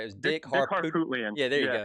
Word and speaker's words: Harpootlian: Yeah, And then he I was gonna try right, to pronounce his name, but I could not get it right. It was Dick Dick Harpoot. Harpootlian.